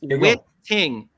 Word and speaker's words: Witting: listening is everybody listening it's witting witting yes winning he wants us to know it rhymes with winning witting winning it rhymes